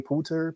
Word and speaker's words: Poulter: Poulter.